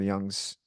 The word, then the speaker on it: Jung: from KY or Jung I don't know how you pronounce it exactly think Carl Young Carl Young yeah he's one of